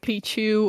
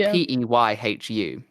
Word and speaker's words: Peyhu: You're like also one of the only ones who pronounces my name right. Like, I have some other friends and they pronounce like Pichu or like really something else, and you're like one of the only ones who say my name correctly. Yeah, I think it's important, like, for the people that listen, because it's audio, your name is spelled Peyhu.